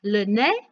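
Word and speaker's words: le nez: the next one is lennae i don't know if you notice that i don't pronounce the zed so repeat after me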